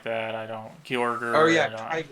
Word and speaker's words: Kyogre: is Kroger, is it or Uh, Gross? Kygor or something like that. I don't Oh Kyorger. yeah, I don't. Kyogre.